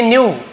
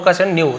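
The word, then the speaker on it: know: जानते थे तो नो का न्यू तो के साइलेंट रहता है न्यू नहीं होगा के एन जैसे है ना हम क्नो नहीं पढ़ेंगे उसे नो पढ़ते हैं नी पढ़ते हैं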